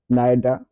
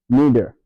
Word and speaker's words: neither: Là, on a ceci se prononce soit neither ou neither. Neither or neither. Donc, choisissez la prononciation qui vous convient.